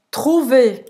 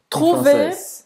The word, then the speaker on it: trouver: Vamos agora para a 31ª palavra, que é trouver. Trouver, achar. Trouver, trouver não vai falar o R. Achar em francês. Um exemplo, trouver.